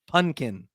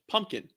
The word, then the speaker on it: pumpkin: saying pumpkin pumpkin yeah there's far too many folks out there even still today in the year 2023 of Our Lord that say pkin punkin pumpkin it's just I can pronounce words yeah just enunciate right